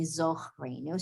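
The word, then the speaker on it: זכרנו: Zachreinu, although it should really say Zochreinu.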